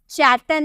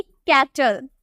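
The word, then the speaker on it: cattle: उसी तरह से फिर आपको सी के बाद ए देखने को मिला, तो हम इसे क्या बोलेंगे, कैटल। चैटल नहीं, कैटल, ठीक है।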